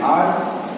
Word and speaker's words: hour: सो हम मिटाते हैं एंड आर, एंड ऑनर, and honest person. तीनों एग्जांपल्स में वर्ड स्टार्ट होते हैं एच से, लेकिन ये एच साइलेंट हो जाते हैं जब हम लोग इसे प्रोनाउंस करते हैं.